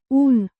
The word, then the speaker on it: Un: Un. As in, moon, a very short and simple word.